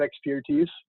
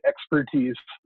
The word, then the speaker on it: ExPürtise: yourselves with that and we say it just like the word expertise but with a peer in the middle it's actually